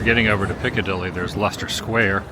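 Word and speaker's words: Leicester Square: over to Picadilly there's luster Square also spelled nothing like if you would pronounce it well at least I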